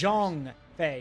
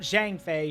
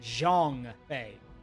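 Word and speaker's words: Zhang Fei: B's Two fiercest officers Jong Fe not Jang Fe Jeong Fe that's how you say it Jong Fe then our aim should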